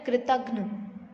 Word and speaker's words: कृतघ्न: उच्चारण क्या होता है, कृतघ्न, है ना। तो आधा न आधा घ आ रहा है, कृतघ्न, पूरा घ नहीं आ रहा है, तो आधा आएगा यहाँ पर कृतघ्न।